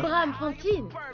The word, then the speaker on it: Braamfontein: Je suis le nouveau promoteur de musique au Club Surge à Braamfontein. J'ai mal prononcé, c'est ça? Braamfontein? Exactement. Ouais.